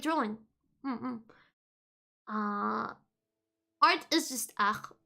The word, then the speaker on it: art: Art is just art. It's written the same way, it's just pronounced differently. And we don't say the T.